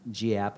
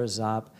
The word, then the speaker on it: Giap: started, led by General Vo Nguyen Giap, not Giap is how we often pronounce it here, Giap.